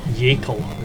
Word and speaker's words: Yakel: Connor Yakel is the way it's pronounced.